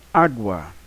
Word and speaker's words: água: água nós temos água a água é um ditongo e cio e não se separa na separação silábica assim nós estamos a sílaba tónica a a senhora vai mais forte né é uma paroxítona estamos Então o que